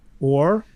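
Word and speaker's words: עור: The Hebrew word for skin is ayin vav resh, or, okay, which sounds similar to or light, but it's spelled differently.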